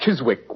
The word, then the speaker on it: Chiswick: Chiswick grounds to be exact it was originally pronounced Chiswick Watson and it's still so spelled it means